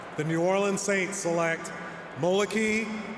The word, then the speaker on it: Moliki: Moliki. So I was saying Moliki. So it's Moliki on the E? Yep. Moliki.